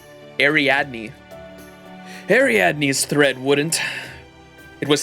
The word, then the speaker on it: Ariadne: Ariadne. Ariadne.